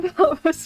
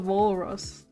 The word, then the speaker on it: walrus: Poor Valrus was just a Valrus. So it's called a Walrus.